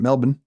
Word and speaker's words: Melbourne: So we've got Melbourne, or as my Australian friend pronounces it, Melbourne, right? Just sort of Melbourne, kind of skip the R.